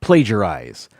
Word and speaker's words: plagiarize: Number 6, plagiarism and plagiarize. The second syllable in both plagiarism and plagiarize is pronounced like the second syllable of pager.